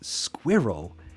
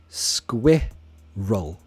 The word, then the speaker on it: squirrel: how do you pronounce squirrel because Americans say squirrel squirrel and it sounds very strange we say squid roll squirrel squirrel that's a we say squirrel okay hey silly alleys